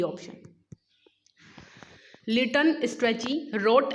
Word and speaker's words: Strachey: Liton स्ट्रेची wrote a biography, the name of his biography is. जो Liton स्ट्रेची हैं, स्ट्रेची होना चाहिए ये, वैसे सिरेची नहीं, लिटन स्ट्रेची होना चाहिए।